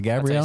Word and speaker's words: Gabriel: Is it Gabriel?